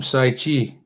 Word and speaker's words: Saichi: That's how you pronounce her name, Saichi. Like Wow. Indian from India, Sai.